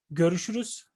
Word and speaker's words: görüşürüz: You can say görüşürüz. Görüşürüz.